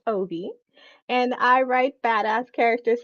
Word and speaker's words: Obey: So my name is Obey, pronounced Obi, and I write badass characters slaying dragons.